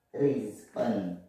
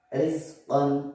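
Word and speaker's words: رِزْقًا: Kita ambil contoh dulu yang tipis ya. Contoh kalau di yang tipis di sini adalah rizqan. Rizqan, rizqan, ri biasa.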